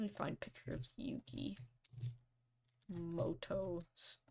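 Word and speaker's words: Mutō: find picture of Yuki Moto spelled mudo pronounced Moto very confusing stuff anyway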